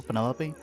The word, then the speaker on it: Penelope: Is that short for Penelope? Officially, yes, but I never can be bothered with all 4 syllables of it.